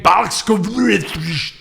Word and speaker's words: Blazkowicz: Fans have pointed out the physical similarities between BJ Blazkowicz.